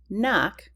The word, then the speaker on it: knock: In the short O sound, you've got clock, crop, cross, knock, which has a silent K at the beginning, lock, and shop.